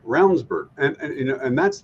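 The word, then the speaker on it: Ravnsborg: running as well but rburg name is spelled ravensborg Raven that's right it is but it sounds like rburg and you know and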